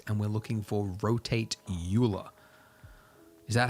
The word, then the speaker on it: Euler: but you're dead, so Euler is. I'm going with Euler. It makes more sense to me. It's got an E and a U and an L and an ER. Euler. No, Euler. Euler.